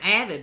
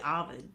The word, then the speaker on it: Ovid: It ain't spelled exactly how it's said. Yeah. Right. Well, I've been trying to get close, but You're doing pretty good too. Yeah, it's like some people call him Avid, but it's really Ovid.